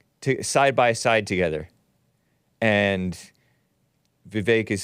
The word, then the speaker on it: Vivek: It looks like Vivek, but it's pronounced Vivek.